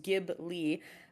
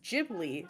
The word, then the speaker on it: Ghibli: the Desert Wind pronounced Gib Lee uh Hayao Miyazaki thought the word was pretty and stole it when naming Studio Kipling he uses the Japanese pronunciation though which is Ghibli so in fact the